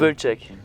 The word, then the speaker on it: Wlcek: Wlcek.